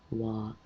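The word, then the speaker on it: は: it's where this ha it's not unknown it's wah and sometimes the you at the end of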